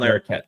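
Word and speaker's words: Larroquette: the uh prosecutor oh John larette okay John larette there you go thank you shankster thank you whatever French ancestry allows you to pronounce that name you know the character actor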